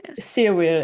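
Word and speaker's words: Cyr wheel: Seawheel is how you pronounce it, apparently.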